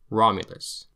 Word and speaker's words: Romulus: R is trilled. The Romans called this the literacina the dog letter because it sounds like a snarling dog. Roma Rome Rulus. Romulus V before vowel, like